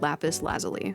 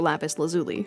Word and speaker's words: lapis lazuli: It's very similar in hue to a precious stone called lapis lazuli, or lapis lazuli, depending on how you pronounce it.